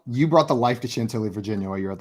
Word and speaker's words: Chantilly: Chantilly. I wasn't sure how to been pronounce to that.